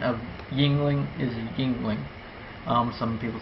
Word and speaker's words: Yuengling: headquarters in Pottsville Pennsylvania um and the official pronunciation of Yingling is Yingling um some people say healing uh I I used to call it healing but it's supposed to be Yingling and the